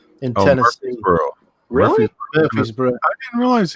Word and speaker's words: Murfreesboro: At you might correct me on the pronunciation, Murfreesboro in Tennessee. Murfreesboro.